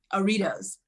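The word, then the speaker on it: Artios: and television casting has garnered her nine cardio pronounce it aritos yeah i was going to say so this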